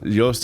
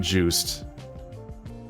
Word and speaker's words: Joost: Joost and Jean. Jean and Joost. That's a Dutch name. First result is Dutch musician and rapper. Joost. It's not Juiced.